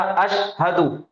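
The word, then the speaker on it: أشهد: तो ये एक लफ्ज हो जाएगा अशहदु। अशहदु, अशहदु। शीन का तलफ्फुज, इसका प्रोनाउंसिएशन सही होना, हा का भी और दाल का भी।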